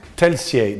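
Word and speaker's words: Telšiai: Yeah, Telsiai, that's how you pronounce it.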